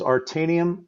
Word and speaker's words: Aretanium: The name of the company is Artanium Executive Group, and it's spelled Aretanium, Artanium Executive Group.